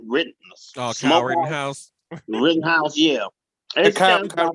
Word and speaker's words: Rittenhouse: How you pronounce his name? Oh, Kyle Smokehouse. Rittenhouse.